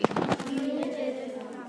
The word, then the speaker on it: commutative: Commutative. Okay, the word commutative sounds like the word commute, right?